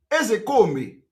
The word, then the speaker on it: Ezekome: I want to pronounce I pronounce it the way Igbo people are pronouncing it I'm a typical Igbo man the real name of ezekome is ezekomi that is the